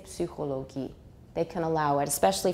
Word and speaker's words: Psychologie: So in German, the word for psychology, anybody know? Psychologie. Not psych, it's Psychologie. Psy. 因为 Y in German is Ü. Psychologie. Psychologie. They pronounce it. So in German, you will actually pronounce it.